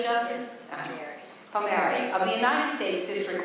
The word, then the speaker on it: Palmieri: Have I pronounced it correctly, Justice? Palmieri, of the United States District Court for the Southern District of New York.